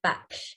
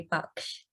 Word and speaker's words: Baksh: time i say it mine is pronounced back or if i was to pronounce it in the uh indian way it'd be box okay great thank you and